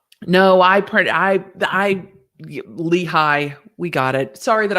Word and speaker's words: Lehi: jail calls um no i pre i i lehi we got it sorry that i pronounced leahy lehigh i i'm going to butcher the way things